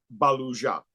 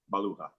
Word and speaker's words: Baluja: the internet came on, Baluja, and that's correct. It is correct, but mine is Spanish, Baluja.